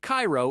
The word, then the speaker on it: Cairo: In Illinois, the town of Cairo is pronounced ko, not like the one in Egypt.